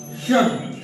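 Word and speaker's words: should: याद रखना है कि ये एल साइलेंट है क्या ये साइलेंट है जैसे गो एंड सॉइ वुड शुड इसमें दोनों में एल आप देख रहे हैं इसको आप केवल ऐसे बोलेंगे वुड इसको बोलेंगे शुड शुड नहीं कहना ना कुल्ड कहना है।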